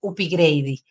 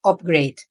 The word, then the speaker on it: upgrade: oímos a Rodrigo hablar del igrade que en realidad la pronunciación correcta es upgrade que significa ascender de